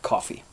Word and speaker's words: Coffey: think irish called aeneas coffee and it's not even spelt like coffee you just pronounce it this way see e y at